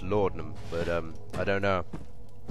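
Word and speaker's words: laudanum: what was in here lard numb tender box i think it's actually pronounced lordnum but um i don't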